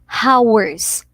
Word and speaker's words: hours: r young spelling yeah starts with an h but the pronunciation is actually with a silent h hindi natin i will give you two hours okay h is silent